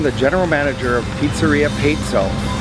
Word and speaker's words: Pezzo: I'm the general manager of Pizzeria Pezzo. And then yes, it's Pezzo. Spells Pezzo, but it's Pezzo. In case anybody's wondering how we pronounce it.